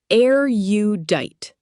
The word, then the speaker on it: erudite: Erudite. Pronounced air-u-dite.